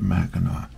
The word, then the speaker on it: Mackinac: It looks like Mackinac, the way it's spelled, but I think they pronounce it Mackinac.